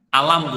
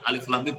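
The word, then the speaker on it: الم: Tadi dibaca alif lam mim. Ini bacanya begitu, Bu, Bapak-bapak, Ibu-ibu. Jadi bukan alam, bukan gitu. Alif lam mim alam bukan begitu?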